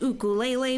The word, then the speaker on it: ukulele: Oh, that's a nice ukulele you have there, Henry. Oh, it's pronounced ukulele, Mr. Russell. Ukulele.